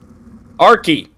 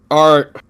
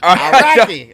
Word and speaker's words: Araki: Arky. Araki. Araki. All right, there we go. That's what I was told by Alex Robinson how to say it.